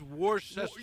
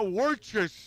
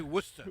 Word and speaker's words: Worcester: at that word it says Worchester yeah worester I still can't pronounce it you know it's but they say worester worester they say